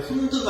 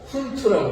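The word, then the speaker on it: Hund: 영어로는 훈트, 독일 사람이기 때문에 훈드가 아니고 훈트라고 발음해 주셔야 됩니다.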